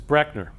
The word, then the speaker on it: Breckner: So my last name is actually mispronounced by almost everybody. That's the way it's actually pronounced, is Breckner.